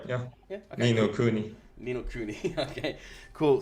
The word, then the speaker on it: Ni no Kuni: Ni no Kuni? You're right. Yeah. Yeah. Okay. Ni no Kuni.